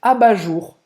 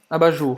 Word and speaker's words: abat-jour: A pronúncia até igual, né? Abajur. É, a pronúncia é igual. Tem que fazer o R com a garganta.